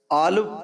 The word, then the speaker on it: الپ: نام سے جانتی ہے۔ الپ کا تلفظ آلپ بھی کیا جاتا ہے۔ یہ ترکی زبان کا